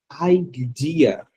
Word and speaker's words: idea: Só que a pronúncia dela é muito diferente, tá? Então, muitas vezes você fica esperando a pessoa falar ideia e a pessoa não vai falar ideia. A pronúncia sai idea.